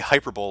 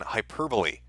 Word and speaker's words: hyperbole: because I say uh I say hyperbowl like it's a futuristic sport rather than hyperbole that is uh that